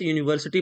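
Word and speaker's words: university: शी is dash dash यूनिवर्सिटी professor. यूनिवर्सिटी का pronunciation या से हो रहा है।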